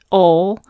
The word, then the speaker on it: awl: After the machine stitching, you can cut the basting thread and take it out using an awl. It's very confusing to me because it's spelled AWL, but anyways, once the basting